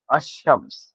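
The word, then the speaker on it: الشمس: बताऊं तो हुफ शमसी ऐसे लेटर्स है जिसमें जो लाम है डेफिनेट आर्टिकल का किसी भी वर्ड में उसको स्किप कर दिया जाता है और directly first letter of the word को जो है प्रोनाउंस किया जाता है।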